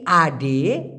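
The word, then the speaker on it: ada: নেওয়া আপনি বলছেন মূলত মালয়েশিয়া রা অনেক ক্ষেত্রে আডা শব্দটিকে আড বলে তা আডা না বলে তা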